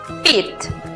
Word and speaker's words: repeat: La siguiente sílaba es una combinación donde encontramos la vocal E con la A juntas en la misma sílaba. Repeat. La pronunciación para la palabra repetir es repeat.